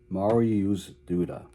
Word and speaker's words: Mariusz Duda: I had to go to the computer and get a pronunciation a pronunciation guide because I wasn't sure how to pronounce his name, but the computer told me he was Mario Duda.